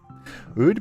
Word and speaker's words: oud: Oud, pronounced oud.